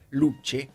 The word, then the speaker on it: Luce: Y la semana pasada yo presenté un auto polémico que es este Ferrari Luche. Se escribe luce, como la luz.